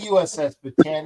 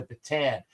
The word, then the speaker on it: Bataan: In Tagalog, when you see the two A's, you pronounce each vowel correctly or each vowel individually because it really pisses me off whenever I hear people call it the USS Batan.